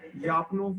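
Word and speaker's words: Lyapunov: ठीक है, अब इसको कैसे प्रोनाउंस करते हैं ये थोड़ा सा मैंने चेक किया है, लेकिन मुख्तलिफ तरीक़ों से यापनोफ भी यानी एल को साइलेंट करके भी कर रहे हैं, और कुछ लोग जो है वो एल के साथ भी इसको बोल रहे हैं।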